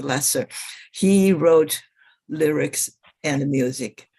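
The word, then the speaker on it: Loesser: write the music but frank lester who pronounced his last name as a lesser he wrote lyrics and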